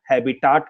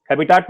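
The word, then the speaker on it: habitat: हैबिटाट मतलब हैबिटेट भी बोल सकते हैं आप लोग, ये प्रोनाउंसिएशन का थोड़ा बहुत डिफरेंस हो सकता है। मैं हैबिटाट बोलता हूं, आप हो सकता है हैबिटेट बोलें।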